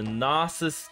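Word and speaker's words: Gnosis: Bitcoin let's see the nasus chain which is spelled with a G even though it's silent I guess like the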